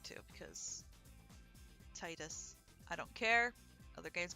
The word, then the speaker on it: Tidus: i'd like to because titus i don't care other games come tidus i don't care he's titus just like how it's zidane not zadane looking at you thanks to